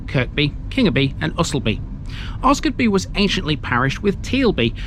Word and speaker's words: Osgodby: got beat some linkage locals pronounce this as oscarby omitting the D in its name this is a simple